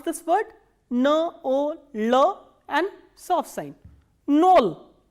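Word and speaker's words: ноль: N, O, L and soft sign. Nol. Nol is 0.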